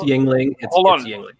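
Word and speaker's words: Yuengling: wait wait wait yes the Americans say it's Yingling bandito where do you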